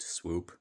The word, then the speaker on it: SPW: That language is pronounced swoop spelled spw.